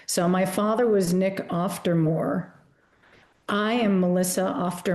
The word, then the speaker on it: Auf der Maur: So I had sort of turned into an international German pronunciation, Auf der Maur, but in fact, Swiss German, it's Auf der Maur.